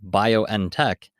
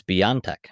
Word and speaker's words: BioNTech: that today that it's it's not pronounced bio and tech it's beyond tech or biontech um i